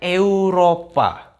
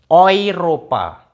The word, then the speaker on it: Europa: Kalau EU kita nggak baca EU, tapi bacanya OI. Jadi kayak contoh, kayak ini. Kalau kita bacanya Eropa, Tapi kalau di Jerman bacanya pakai ini, Europa. Jadi bukan Eropa, tapi Europa.